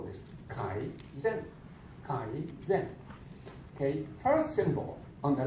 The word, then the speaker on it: Kaizen: So that's the 3 steps for Kaizen.